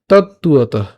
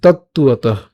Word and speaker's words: তত্ত্বতঃ: এই জায়গাটা আমরা ভাঙলে এভাবে পাই, কিন্তু উচ্চারণের সুবিধার জন্য আমি আবার বলছি, উচ্চারণের সুবিধার জন্য, মুখের জড়তা কাটানোর জন্য উচ্চারণ করব তত্ত্বত।